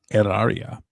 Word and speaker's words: Hilaria: And I wanted to ask you about Hilaria Baldwin, Hilaria with an H, of course, with a silent H, which I will be